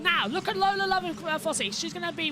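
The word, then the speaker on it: Lovinfosse: Lola Lovenfosse, yeah.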